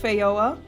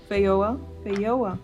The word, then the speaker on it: Feijoa: Alright, according to Google, it's pronounced Feijoa. If I understand this right. Feijoa.